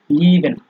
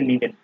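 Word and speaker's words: lieben: যেমন আপনি এই যে এখানে দেখেন লিভেন। ঠিক আছে, লিভেনের মধ্যে আপনার হচ্ছে এই ই এবং এ, এই দুইটা যোগ হয়ে উচ্চারণ হয়ে গেছে লিভেন।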